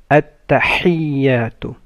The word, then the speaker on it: التحيات: mid of the throat التحيات and يا has the شدة so you make it double you don't say تحيات but you say تحيات التحيات لله لام of